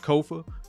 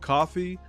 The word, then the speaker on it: Kofa: I am your host, Kofa, Kofa, not coffee, not, not Kofi, or any variation thereof. Kofa rhymes with sofa.